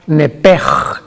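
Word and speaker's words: נפש: no me equivoco es la palabra nepe que se escribe nepes en el hebreo que es la traducción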